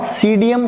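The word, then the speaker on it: Psidium: Guava, सीडियम गुआजावा, इसके अंदर P silent रहता है।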